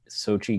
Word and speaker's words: Xochitl: From what I've read, it's pronounced Xochitl, but that could be completely wrong. But Xochitl Gomez, to the cast list.